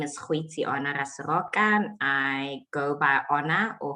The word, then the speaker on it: Goitseona Raseroka: what Tanya has already shared, my name is Goitseona Raseroka. I go by Ona or Goitse, whichever is easier for you to sort of pronounce or to latch onto.